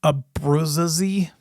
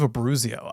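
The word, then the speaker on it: Abbruzzese: I suck at pronouncing his last name, but the drummer from Pearl Jam back in the old days, Dave Abruzzi, I used to call him Dave Abruzio. I don't know why, but at the end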